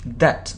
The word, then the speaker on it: debt: furthermore furthermore furthermore furthermore they have a huge debt now they have a huge a huge de now hug dog we don't pronounce okay so they lost lots of money